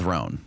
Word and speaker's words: Rhone: And on top of that, all my other clothes are always wrinkled, not with Roan.